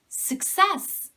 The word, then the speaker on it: success: subscription subscription this is success it's not suck it's sick sick sick success success successful succeed the verb